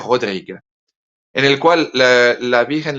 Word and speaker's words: Rodrigue: Se escribe casi como Rodríguez, pero sin la Z al final. Se pronuncia Père Rodrigue, en el cual la